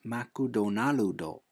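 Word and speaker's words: マクドナルド: all foreign words but applying japanese phonics to english changes both the sound and the rhythm of most words so for example the word mcdonald's becomes makudonaludo and my wife's traditional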